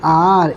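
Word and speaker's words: hour: लेकिन एन लगाते हैं एन आर एक घंटा क्योंकि एच इसमें साइलेंट है ए इज़ यूज्ड बिफोर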